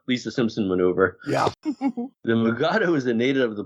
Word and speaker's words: Mugato: So it was changed to Mugato, which Kelly and William Shatner proceeded to pronounce Mugatu.